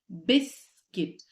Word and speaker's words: biscuit: biscuit yeah biscuit biscuit the sound of U in this spelling is hidden well yes it is the way that it is it's pronounced bisc biscuit next up is bouet